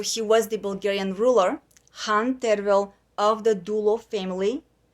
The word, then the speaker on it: Khan: Asparuch and grandson of Han Kubrat. Lots of terminology for English speakers, for foreigners, so let's review. What does a Han mean? You guys will spell it as a Khan. We say Han.